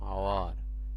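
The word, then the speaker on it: hour: আচ্ছা, যেমন আরেকটা উদাহরণ দেখো, আওয়ার, এখানে এইচটা গোপন থাকতেছে বা হেডিয়ান থাকতেছে, এখানে আমাদের উচ্চারণটা আসতেছে ও এর।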